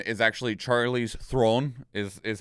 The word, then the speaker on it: Theron: battle passes ago that's like also a Charlie's Theron is actually Charlie's Throne is is how it is properly pronounced throne throne yeah but she also just